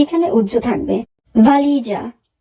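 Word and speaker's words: valigia: ভালিজা, ভালিজা, suitcase. এখানে যদি বানানটি follow করি সবার শেষে আছে GE এই তিনটি বর্ণ মিলে হবে যা, তাহলে উচ্চারণ হচ্ছে ভালিজা।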